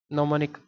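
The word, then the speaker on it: gnomonic: बार आया हुआ है नो मोनिक नो मनिक प्रक्षेप नो मनिक में जी साइलेंट है और नो मनिक प्रक्षेप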